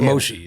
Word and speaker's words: Moshe: But Moshe is it.